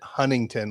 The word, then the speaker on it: Huntington: It's weird because in California we pronounce it Huntington. Like the T is almost silent.